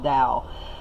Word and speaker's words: Tao: I looked up the pronunciation online, it's actually pronounced Tao, but what was I going to say?